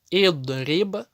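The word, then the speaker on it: اضرب: В остальных же случаях она всегда будет читаться И. Независимо, пусть это фатха или пусть это кясра. И'лям, идриб, и'маль.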